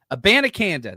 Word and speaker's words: Abanikanda: Now, this is something that I wanted to talk about a little bit later, but you brought up Israel Abanikanda. Is that am I pronouncing? Abanikanda. Abanikanda.